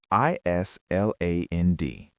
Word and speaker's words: island: I S L A N D. Island. Many people say is. Yes. But the S is silent.